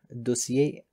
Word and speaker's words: dossier: For example, in French, these are pronounced as information, étiquette, dossier, restaurant, que.